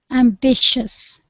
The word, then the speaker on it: ambitious: words he is ambitious ambitious yeah so in this respect the second I is not pronounced so ambitious okay okay number 70